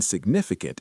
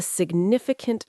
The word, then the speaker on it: significant: The G in significant is often silent. took a significant toll.